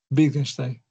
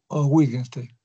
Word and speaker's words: Wittgenstein: acá con el filósofo Wittgenstein. Wittgenstein o Wittgenstein, ¿no? Aquí está su pronunciación, su escritura y su pronunciación. Muy bien, Wittgenstein lo pronunciarían en su lengua.